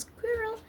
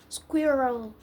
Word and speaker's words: squirrel: white lines for instance we frequently hear our friends pronounce squirrel incorrectly as squirrel or squirrel well at least we